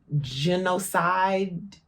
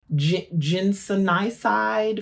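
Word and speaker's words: ginsenoside: many fruits and vegetables genocide not genocide that's obviously not genocide ginsenicide from Panax Ginseng curcumin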